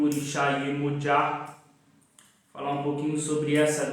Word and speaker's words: Yemoja: Aqui no Brasil é conhecida como Iemanjá, mas a pronúncia correta do seu nome é Iemoja.